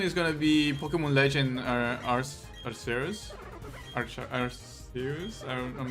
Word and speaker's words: Arceus: Arcus? Oh, that's very weird. Because I tend to pronounce it the Italian way. And if you, like, in Italian, I will say Arceus.